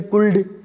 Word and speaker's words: could: वो पिछले वीडियो में बताया था ना, COULD, कुल्ड, बोले एल बोला नहीं, जगह साइलेंट है, तो हिंदी में कोई साइलेंट नहीं है।